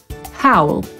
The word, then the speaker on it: howl: A jeszcze inaczej czytamy słowo, które znaczy wyć. Howl. I po brytyjsku, i po amerykańsku.